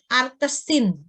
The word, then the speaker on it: arcsin: Nah, kalau sinus X sama dengan sinus ini bahasanya kalau sinus pangkatnya negatif 1 ini jangan dibaca sinus pangkat negatif 1Y ya. Tapi bacanya inverse. X sama dengan inverse Y atau arcsin.